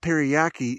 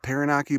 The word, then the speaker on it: Taranaki: And you could see Mount Teriyaki is in a cloud right now. See that? You know, they told me that it's pronounced Mount Taranaki, but Teriyaki sounds nicer and it sounds delicious.